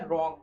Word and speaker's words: Rong: रॉन्ग बोलते हैं। गलत नहीं है, गलत नहीं, स्पेलिंग देखो RONG रॉन्ग, ठीक है।